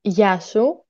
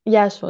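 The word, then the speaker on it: Γεια σου: So, hello, it's Yasu. Yasu? Yes, it's Yasu. It's like ya, but if you want to say hello to you, it's like Yasu.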